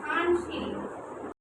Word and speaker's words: ধানসিঁড়ি: ধানসিঁড়ি সিঁড়ি উচ্চারণটা কেমন করেছি? একটু নাক দিয়ে কেন? একটু নাকের সঙ্গে উচ্চারণ করেছি ধানসিঁড়ি।